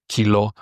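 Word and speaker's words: κιλό: English or in German you would say kilo So this is just to help you a little with with the pronunciation. But remember it's not kyo or anything like that. The e is always an e sound like an inside and the o is always an o sound.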